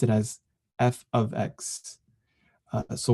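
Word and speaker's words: f(x): this F parentheses x a lot and we pronounce it as F ofx uh so Y is f ofx which means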